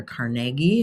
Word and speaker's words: Carnegie: You've got Carnegie or Carnegie, as I think you're supposed to pronounce his name, and Rockefeller.